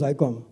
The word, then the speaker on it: Zycom: So मैं आके operator को बोला, madam, it is not Zcom, it's Zycom. So that's how the pronunciation changed, and we got into that business.